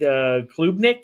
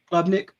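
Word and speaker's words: Klubnik: Um Cade Kubnik, I think is the how you say his name. Clubnik.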